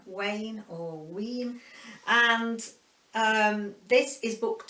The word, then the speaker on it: Wein: is by Elizabeth Wayne I think it's pronounced w ein Wayne horween and this is